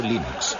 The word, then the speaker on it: Linux: es y cómo se pronuncia Linux Bueno yo Linux lo pronunció Linux sin embargo si fuese Linux no hay duda